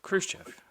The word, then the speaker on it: Khrushchev: And he like took a back channel directly to I can't pronounce his name. Is it Khrushchev? Khrushchev.